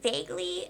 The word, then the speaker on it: vaguely: with that word, and I read it as vagu, and then someone corrected me and wanted to die inside. Like this random kid on the other side of class was like, "Isn't it vaguely?"